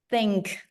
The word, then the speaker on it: think: you want to think so the difference is the K at the end think think think think think